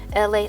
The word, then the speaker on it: ELA: LA of LA, pronounced like LA like this city.